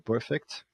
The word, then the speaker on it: perfect: Olha o advérbio montado a partir do adjetivo perfect. Cuidado com per são de ou britânico pode tirar esse R e falar perfect.